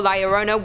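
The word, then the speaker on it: Llorona: in a number two lyorona hailing from hispanic folklore lyorona which i'm pronouncing correctly now after you guys yelled at me in a previous video is also known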